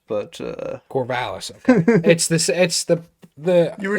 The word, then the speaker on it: Corvallis: They've really they're building something in Corvallis, if I do get my cities correct in the Pac-12. Corvallis, I believe, is how it's pronounced, but Corvallis, okay.